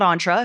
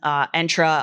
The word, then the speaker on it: Entra: I've been doing it wrong, so it's Entra, not Entra, if anyone's curious.